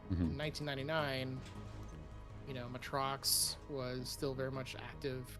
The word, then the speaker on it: Matrox: in 1999 you know matrox was still very much active contender bugs i keep saying the name wrong matrox correctly um but uh yeah they